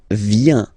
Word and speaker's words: viens: So the first form is je viens. Je viens. Okay? Remember this I, viens, viens, and then this nasal. Final S not pronounced.